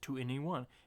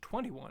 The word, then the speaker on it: 2NE1: for the longest time she thought it was just 2NE1. And in the video she says it's pronounced 21. And that's when I realized it was pronounced 21.